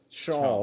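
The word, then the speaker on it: Schaal: She is so funny and she seems so smart that Shaw Shaw, that's how you pronounce her name.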